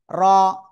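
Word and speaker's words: ر: র ওকে একটা মজার বিষয় কি জানেন এই র অক্ষরটা উচ্চারিত হয় জিব্বার আগার পিঠ তার বরাবার উপরে জাস্ট তালোর সাথে লাগিয়ে মোটা আওয়াজে এভাবে যদি উচ্চারণ করি তো ভুল জাস্ট ওভাবে নয় র এক থেকে দুইবার এভাবে ভাবে উঠানামা করবে।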